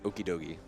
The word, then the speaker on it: Okidogi: How do you think this is pronounced? I am fairly certain this is Okidogi.